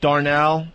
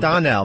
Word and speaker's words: Donnell: I went to see Bill Burr, Darnell. Mm-hmm. Is it Darnell? Darnell. Darnell. And Charlie. And Charlie Murphy, okay? Mm-hmm. It was Bill Burr killed. Darnell, or how do you say his name? Donnell, right? Donnell, yeah.